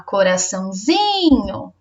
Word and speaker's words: coraçãozinho: Mas, por exemplo, na palavra coraçãozinho, não é o são a sílaba mais forte, não é a sílaba acentuada, né? É o zinho. Olha lá, coraçãozinho. O zi é a sílaba tônica. Outra palavra, manhã.